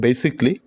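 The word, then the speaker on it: basically: আর মূলত উচ্চারণটা বেসিকলি, কিন্তু আমরা যদি ভালো উচ্চারণ করি তাহলে হয়তো বা বানান ভুল যাবে, এর জন্য আমাদের উচ্চারণ করি সেটা হচ্ছে বেসিক্যালি, ঠিক আছে।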